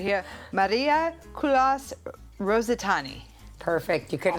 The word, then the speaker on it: Marija: so I'm going to say it right here, Marija I Rositani.